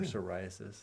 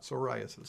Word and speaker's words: psoriasis: what we're talking about psoriasis psoriasis spelled with a PF course yeah the PS I wouldn't use it depends on what you're peeing on I guess the P is silent oh why can't you